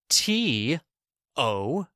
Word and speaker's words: tough: Number 4, TOUGH. F. Sound tough. Tough.